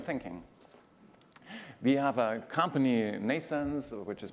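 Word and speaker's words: NNAISENSE: complexity of human thinking we have a company Nason's which is pronounced like births Neeson's but spelled in a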